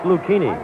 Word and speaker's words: Lucchini: Lucchini is spelled Luchini. He said it's Lucchini.